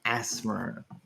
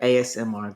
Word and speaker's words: ASMR: It is not asthma. The asthmas. It's pronounced by the letter ASMR.